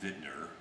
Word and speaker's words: Wittner: This one is fit with Wittner, which is properly pronounced Wittner, since it is a German company, geared tuning pegs.